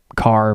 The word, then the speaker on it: Kahre: pretty similar and uh my last name is car it's spelled different it's k a h r e but it's um different spelling but it's still a car like you drive like if you're part of the car family you know you get